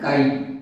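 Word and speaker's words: χ: देखो जरा the mole fraction of solute XA, तो मोल फ्रैक्शन को डिनोट कर रहे हैं x, इसका एक्चुअल प्रोनाउंसिएशन है काई, इसको काई बोलते हैं, XA।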